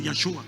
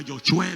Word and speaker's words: Yahshua: No se dice Jesús, se dice Yahshua. Mira, dígalo Yahshua, diga Yoshua, lo que usted quiera.